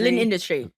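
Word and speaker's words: L'Industrie: Yes, And L Industry or Lindustry? Lin Industry. Oh, Everyone calls it it Lin again? Industry. Lin Industry. Oh, it's Lin Industry.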